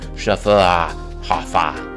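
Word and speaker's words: Schöfferhofer: proper pronunciation of our unusual and challenging name, Schufferhofer. And yeah, I remember that pronunciation guide.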